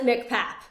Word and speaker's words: MCPAP: can be a challenging AC it's MC people pronounce it mcpap yeah the massachusett child psychiatry Access program for moms so it's mcpap for moms there's actually one for kids that